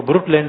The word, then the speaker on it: Brundtland: BRUNDTLAND, BRUNDT brute. तो NOD silent है, German व्यक्ति है तो उनके नाम थोड़े टेढ़े होते हैं।